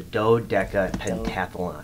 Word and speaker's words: Do-Deca-Pentathlon: potato potato you know it looks like a dew but it's really a dough yeah there's no deer